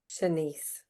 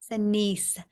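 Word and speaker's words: Shanese: Shanice. Shanice.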